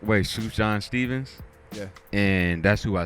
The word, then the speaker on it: Sufjan Stevens: I think his name pronounced the correct way, Sufjan Stevens.